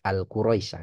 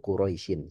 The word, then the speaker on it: Quraisy: Nah jadi enggak boleh kita bacanya surah Al-Quraisyah ituak itu keliru ya. Tapi suratu Quraisyin.